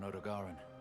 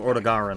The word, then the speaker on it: Odogaron: An Odogaran, probably a subspecies. Oh, fuck! I was just saying last fucking stream, I hope Odogaron's back. Or Odogaran, I guess, is how they pronounce it.